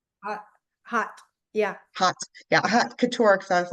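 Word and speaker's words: haute couture: pronounce that? Hot, hot. Yeah. Hot. Yeah, hot couture.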